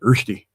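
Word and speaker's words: Rösti: Oh, I'd love a roasti right now. I'm mispronouncing it. Roosti.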